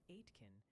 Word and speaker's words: Aitken: And a little birdie, for several hundred chatters, mentioned Aitken is more like Aitken, and Mill Lax is Mill Lax.